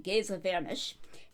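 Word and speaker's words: Géza Vermes: I did some research since my last video to figure out how to correctly pronounce his name, Gaza Vanish, and EP Sanders, sometimes called Ed Sanders.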